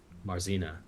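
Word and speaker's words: Marzena: in and I look at how do you pronounce her name again marzina marzina and I watch her eat for a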